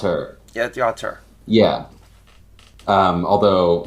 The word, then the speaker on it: auteur: Is that how it's Yeah, the pronounced? auteur.